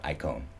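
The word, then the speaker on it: εἰκών: And it says when God says, let us make man in our image, it uses this term acon or icon, depending on how you like to pronounce Greek.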